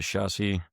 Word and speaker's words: chassis: The keyboard and trackpad are color matched to the chassis.